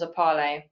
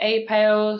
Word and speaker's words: EPALE: or wrong way but we generally refer to the platform as a parle some people say a pail some people say epal it doesn't matter how